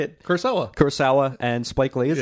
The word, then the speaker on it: Kurosawa: Kurosawa.